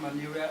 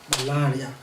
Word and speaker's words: malaria: the right pronunciation of the word malaria so in the course of this presentation I'm going to be mentioning malaria now malaria okay so